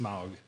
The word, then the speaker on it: Smough: I've heard it pronounced Smough, Well, you heard it wrong. but whatever. I still love you. It's also pronounced Smaug, too.